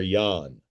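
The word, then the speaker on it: Jahn: The first was named Father Yan and that is spelled J Ahn.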